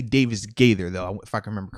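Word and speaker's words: Davis-Gaither: it up bro yeah it's davis gators i can't i always want to flip it it's definitely davis gather though if i can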